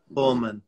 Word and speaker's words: Holman: Joey and Joy's last name is Joey hman Holman Holman all right all right all right so